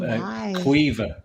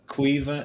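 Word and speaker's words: Caoimhe: That's spelled Nimh. And it's Niamh? Niamh, yeah. There's also Cuiva. Cuiva is Caoimh.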